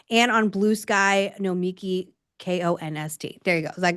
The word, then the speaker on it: Nomiki Konst: It's Nomiki Konst.